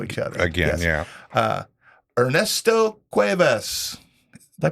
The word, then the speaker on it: Ernesto Cuevas: Ernesto Cuevas. Did I pronounce that right? Yep, Ernesto Cuevas.